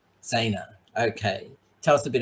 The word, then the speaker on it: Zaina: Now, I'm pronouncing this right? Zaina. Zaina.